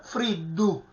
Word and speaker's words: friddu: raddoppiamento di consonante, cioè la D semplice, non cacuminale, si raddoppia e diventa friddu, friddu. Quindi è giusto questa pronuncia friddu, no friddu. Ecco, lì è sbagliato, la pronuncia sarebbe sbagliata la pronuncia cacuminale.